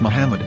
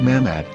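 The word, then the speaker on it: מחמד: Prophet or as mamad with no a after the H according to Ben yehuda's Hebrew English dictionary it is correctly pronounced as Muhammad not mammad so how we're going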